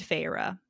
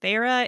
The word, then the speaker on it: Feyre: to the spelling because her main character is named pharah okay pharah is our 19 year old 19 year old gal and it's and it's spelled f-e-y-r-e and I only know it was pharah because I listened to